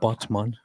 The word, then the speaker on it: Batman: but there is a a place in turkey named botman which just is spelled exactly like Batman so I was always